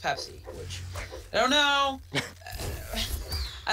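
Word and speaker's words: Pepse: That is a cat, and it's spelled P-E-P-S-E. But it's pronounced Pepsi, which...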